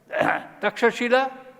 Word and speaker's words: Takshashila: Taxila University, old name was Takshashila, English pronunciation it is Takshila, now in Pakistan.